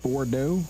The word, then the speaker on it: Bordeaux: It's called Bordeaux.